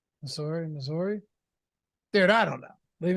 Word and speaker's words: Missouri: You should be saying Missouri. Like it's MISS. There's no Z. Missouri.